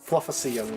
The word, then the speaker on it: Flufficium: Fluffacium, got it. DM. Yeah, like coliseum, but without a collie.